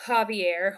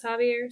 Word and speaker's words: Xavier: going to start with javier which when i read it it reads like xavier but the french pronunciation is javier so if you see